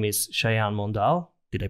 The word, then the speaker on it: Sayan Mondal: have a special guest and his name is shayan mondal did i pronounce it well yeah that's perfect hello guys